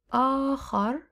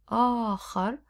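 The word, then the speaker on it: آخَر: آخر, with فتحة on top. آخر, other. If we say آخر, it would be last. So pay attention to how you pronounce خ with فتحة.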